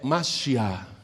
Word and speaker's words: Mashiach: A palavra Messias em português ou em inglês, se escreve do mesmo jeito. Mas em hebraico é Mashiach, e quer dizer ungido.